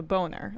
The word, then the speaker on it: Boehner: beau and then ner the h is silent right but he ha